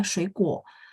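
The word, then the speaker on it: 水果: Shuikuo. Oh, yang kita dengar K, tulisannya adalah G.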